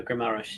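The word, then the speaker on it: Guimarães: When you say Guames, I assume you mean Bruno Guimaraes.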